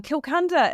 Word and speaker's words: Kilcunda: But further down the list at number 40 was Kilcunda in the Gippsland area of Victoria.